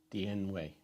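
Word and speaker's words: 典韦: Dian Wei.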